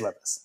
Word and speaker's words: Levis: make sure that I knew how to say Levis, because the pronunciation is important to me, as we know, and it is Levis, so I knew that for sure.